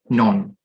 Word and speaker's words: known: just act like this the k in the word known is disappear disappear so you pronounce it non for its transition so